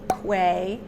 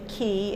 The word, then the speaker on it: Quay: I'll also link Quay, actually Key, it's pronounced Key.